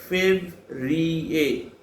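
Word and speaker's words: Février: R-I-E-R-A, Fevrier. I repeat again. F-E-B-R-I-E-R, Fevrier. E-R, that is sound A.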